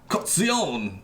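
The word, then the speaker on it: Colzione: Calzone! That's how you pronounce it.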